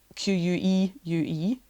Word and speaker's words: queue: u e u e the last five letters are sorry the last four letters are of course redundant just silence spell it with one letter it's a queue with four silent letters after it yeah god god help